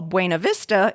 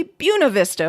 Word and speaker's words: Buena Vista: That list did include Madrid and Nevada, and some other examples are what non-Iowans would call Buena Vista is apparently Buena Vista for Iowans, or pronouncing what many English speakers would call Tripoli as Tripola.